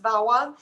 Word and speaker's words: VAWA: violence against women act it's often pronounced vawa um this is more